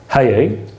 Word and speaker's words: Hai: buyer of high government actually his name should be pronounced haye rhyming with abaye who was the last great gaon of babylonia died in 1038.